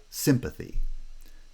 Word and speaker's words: sympathy: And words are words like sympathy. Sympa forms a bisyllabic foot, and then the final extra syllable is unstressed.